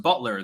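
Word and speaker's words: Beutler: Herrera Butler is pronounced Butler the E is silent uh I'll put my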